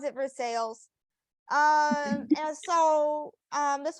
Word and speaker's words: Versailles: spelled like Versailles but um you know they pronounce it for sales um and so um this was one I